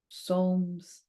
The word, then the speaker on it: Psalms: so Psalms Psalms that's how you say it Psalms Psalms 48 but it's just it's not easy